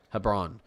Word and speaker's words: Hebron: Hebron Hebron I'm gonna I'm going to pronounce this like it's LeBron with an H so Hebron uh this is heading